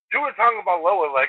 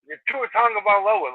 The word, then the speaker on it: Tua Tagovailoa: But Tua Tagovailoa, I needed to hear that one 150 times before I got it right. What? Tua Tagovailoa, it took me forever to figure out how to fucking say it.